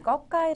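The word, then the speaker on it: ก: 첫 번째로 등장한 자음이이 거까이 자인데이 자의 음가는 바로 K 우리나라 발음으로 뭐 생각을 해 보면 쌍기역 정도로 보시면 돼요이 음가는 초자의 음가 보시면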